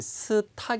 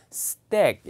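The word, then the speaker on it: stack: 여러분 빈출 동사 줘 발음이 스탁 이 아니라 쓰 뗍니다 e 스 발음 dl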